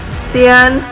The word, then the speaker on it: Sian: Okay, so Sian, am I saying it right? Yes, I'm Sian.